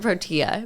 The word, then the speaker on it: Protea: But yes, we pronounce it Protea. But yeah, it does look like, I've had a few people mistake it as like it being a tea shop where it looks like pro tea.